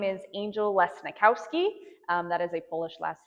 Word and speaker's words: Lesnikowski: If you want to remember how to say it, if you've ever watched Monsters, Inc., you know of Mike Wazowski. If you could say his name, you could say my name.